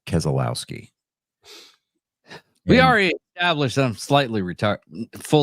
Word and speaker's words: Keselowski: all well uh Brad kitzski and Bubba walls fell out of NASCAR's Cup playoffs spot after do David David I'm gonna educate you it's pronounced Keselowski we already established some